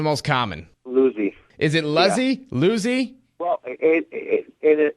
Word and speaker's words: Luzzi: Is it Luzy? Luzy. Well, in in American it's Luzy. In Italian it's Lucy.